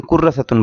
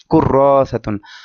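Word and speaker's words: كُرَّاسَةٌ: হবে না এরকম হবে এখন কুরসাতুন অনেকে কুররাতুন বলে তো এখানে একটা আলিফ আছে র এর পরে অতএব এখানে একটা টান হবে কুররসাতুন আরেকটা বিষয় দেখেন যে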